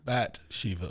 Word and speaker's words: Bathsheba: That's how it's pronounced. Bathsheba.